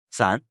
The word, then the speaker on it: 伞: 伞，我不知道。和散步的散发音很像。